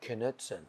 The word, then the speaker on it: Knutson: And I know how to pronounce it well, Knutson.